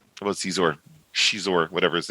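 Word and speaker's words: Xizor: And the guy's like, oh, look at this Prince Zizor. And this kid goes, it's Shizor. Like he's like correcting his pronunciation or something.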